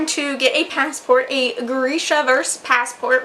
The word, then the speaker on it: Grisha: get a passport a Grisha vers passport which Leigh bardugo was saying Boresha so I've only been saying it wrong all these years a